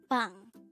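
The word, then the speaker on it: 방: Bang. This is composed of just one syllable, and this is pronounced as bang.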